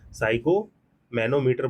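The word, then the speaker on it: sphygmomanometer: Measure the blood pressure, इसको क्या बोलते हैं, साइको मैनोमीटर बोलते हैं, साइको मैनोमीटर, इसको प्रोनाउंस कर लीजिएगा करेक्टली, ठीक।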